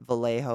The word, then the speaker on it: Vallejo: Vallejo is how you say it. Vallejo or Vallejo.